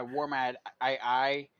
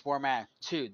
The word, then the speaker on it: Wormat II: People would actually would take like my Wormat II and pronounce it as Wormati or Ramadi. And I'm like, no, it's Wormat2, the Roman numeral 2.